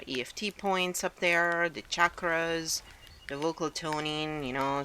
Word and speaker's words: chakra: the chakras and the correct way to say chakra is chakra so please just start seeing it correctly don't